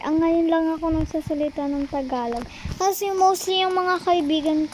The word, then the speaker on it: Tagalog: Hindi niyo nila nga ma-pronounce ng Tagalog yung pino-pronounce nila. Tigelog. Ano? Tagalog. Yun yung sinasabi nila.